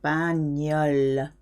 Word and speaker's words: bagnole: GN gives you a ñ sound, very nasal. Bagnole.